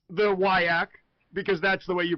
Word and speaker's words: WIAC: There is no I W I A C. No, no, no. I see the from Wisconsin told me that it's Wisconsin sober and it's the WAK because that's the way you pronounce it.